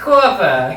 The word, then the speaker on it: Corpa: It's pronounced I Corpa.